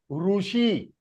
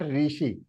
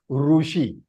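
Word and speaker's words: ऋषि: And Dirga means long Ru, is Rushi. It is not Rishi. It is Rushi.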